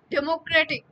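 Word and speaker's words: democratic: অংশ বলব শাসাঘাত বলব কিন্তু ডেমোক্রেটিক ডেমোক্রেটিক যখন আমরা বলতেছি তখন এই শব্দটিতে শাষাঘাত পরে হচ্ছে তৃতীয় ছিল বলে এই যে টিক আপনি উচ্চারণ করেন ডেমোক্রেটিক ডেমোক্রেটিক গিয়ে কিন্তু আমাকে আরো বেশি কি করতে হচ্ছে শক্তি দিতে হচ্ছে তোশাখাতের উৎপত্তি ও ব্যাখ্যা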